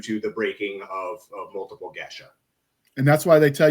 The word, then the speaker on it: geas: It's pronounced Gesh, but spelled Geas. I've taken to just pronouncing it Gace, because otherwise, if I say Jesh or Gesh, however people want to say it, it's fair.